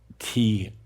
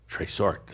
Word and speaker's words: trésort: It's a word, I'm going to spell it out, Linda. Okay. It's TRESORT. Tresort.